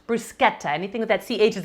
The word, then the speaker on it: bruschetta: bougie when i say this that's how it's pronounced bruschetta anything with that ch is a cook in